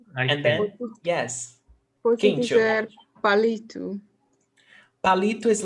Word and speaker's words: palito: Is there accent mark in palito? No. No. Então vamos ver aqui, ó. Palito. The stressed syllable is li.